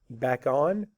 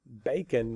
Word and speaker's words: bacon: Is it back on or is it bacon? It's bacon, that's right, because that is an open syllable.